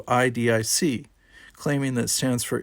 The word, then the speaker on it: idic: philosophy of spiritual Oneness the actual Vulcan word is pronounced more along the lines of e humans have transliterated it into idic claiming that it stands